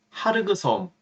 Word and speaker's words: 하르그섬: 오늘 아침 미군이 전격적으로 하르그섬, 카르그섬이라고도 발음을 하죠.